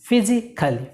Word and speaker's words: physically: যখন ফিজিক্যালি, ফিজিক্যালি, ফিজিক্যালি, কালি না, ফিজিক্যালি, ফিজিক্যালি। হি is young and ফিজিক্যালি ফিট।